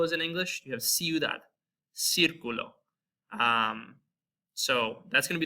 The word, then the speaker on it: ciudad: However, there's a soft C sound in Spanish, kind of like there is in English, like the word city. If you have the word city in Spanish, ciudad. So before an E or